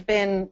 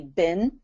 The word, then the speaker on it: been: Here in the US, we say been for B, uh, BN. In England, they say been, right?